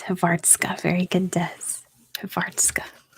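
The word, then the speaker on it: Hrvatska: Croatian what how do you say Croatia it's havartska very good Dez of artska how about Albania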